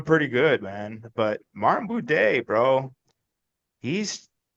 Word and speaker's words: Buday: But Martin Buday, bro, he's not an easy win. That was Buday. Buday, Buddy. Buday. Buddy. See, I say it like me and Bisbing say, Buddy. Buddy. It's Martin Buddy.